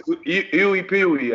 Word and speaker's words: IUPUI: Find out he said it's Iwi Peewee, I guess that's the way they say that.